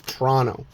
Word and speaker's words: Toronto: If you're a real Canadian when you pronounce Toronto it's Toronto. You don't pronounce that T in the middle. It's silent.